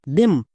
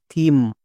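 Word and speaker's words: theme: আমরা সবাই জানি শেষে ই থাকলে সেই ই সাইলেন্ট থাকে, তাহলে এর উচ্চারণ কি হলো, থিম। এর উচ্চারণ কিন্তু দেম হয়নি।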